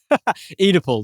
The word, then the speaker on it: Oedipal: Oedipal, that's how you say it.